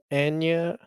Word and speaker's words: Agnes: what I still So in the movie, her name's Agni, but pronounced Anya.